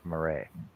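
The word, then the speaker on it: Marais: There's no in that. I said it's it's no R in it either. M A R A I S. Yeah, it's Marray.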